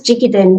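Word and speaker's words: Jikiden: So this is jigiden raiki. So it basically just means traditionally passed on raiki.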